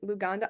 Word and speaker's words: Luganda: either you know Swahili or how do I pronounce it lug luganda I don't want to mess it up yeah